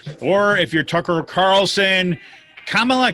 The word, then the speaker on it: Kamala: and kamala harris or if you're tucker carlson kamala kambala kumala yes fox news is going all pronunciation police well the task now though is